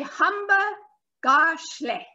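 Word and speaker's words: hamba kahle: And you say hamba gashle. Now, that word is spelt with a K, but it's a G sound.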